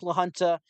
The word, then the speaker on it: La Junta: uh let's see here you said it right La Junta gotcha okay so it's La Junta so obviously I think lahunta uh should be mostly